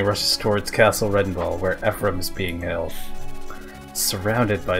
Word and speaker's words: Ephraim: How do you pronounce that? Ephraim.